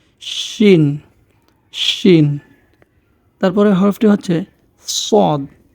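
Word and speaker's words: صاد: শিন তারপরের হরফটি হচ্ছে সদ সদ উচ্চারণ করার সময় আমাদের মাড়ির দাঁতের সাথে আমাদের জিহ্বার দুই পাশে যেকোনো একপাশ লাগিয়ে দিলে আমাদের উচ্চারণটা হয়ে যাবে সদ চেষ্টা করলে হয়ে যাবে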